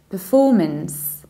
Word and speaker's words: performance: beginning we say then we stress for and then reaches the end day means performance nod month performance and